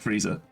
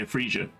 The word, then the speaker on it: Freesia: it's Heritage like it's her name sounds like Frieza well I said I would meant to say freesia which is how I've been pronouncing her name this is called